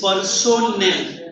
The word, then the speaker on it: personnel: No, it is personnel. Personnel.